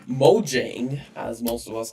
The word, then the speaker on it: Mojang: with people saying it Mojang you can pronounce it however you want but because it is a Swedish company then the way they